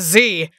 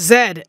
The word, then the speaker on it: Z: In Canada, they don't pronounce Z as Z. They pronounce it as Zed, and that is crazy to me.